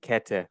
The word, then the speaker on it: Kette: Yeah, Kette, and it's spelled Kette.